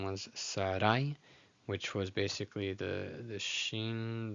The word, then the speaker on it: Sarai: It's not, in Spanish, it's Sarai as two separate syllables. In Hebrew, it's just Sarai, Sarai.